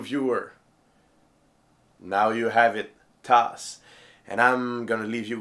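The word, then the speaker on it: tasse: of this week bug how do you say mug in French toss now say it out loud with me toss now pause your viewer now you have it toss and I'm gonna leave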